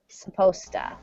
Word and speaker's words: supposed: see this because in in spoken English it sounds like sposta supposta smarter yeah the lecture was supposed to be this morning but I guess they canceled it so it sounds like this but it's spelled like this it is the past participle of suppose so was supposed